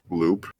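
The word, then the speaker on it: loupe: Yeah, that's the one that's spelled like L O U P E, I think. Right. Yeah. Yeah, correct. Yeah, the French spelling crazy French people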